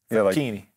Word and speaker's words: Facchine: Facchine. Facchine. Yeah, Facchine. Now, well, first of all, you put your fingers together. I was in Master Fingers. And you say Facchini.